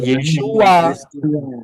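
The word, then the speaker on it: ישוע: tidak gak bisa karena y Ain itu bacanya pronounnya pengucapannya adalah yesua Sejak kapan Yin ini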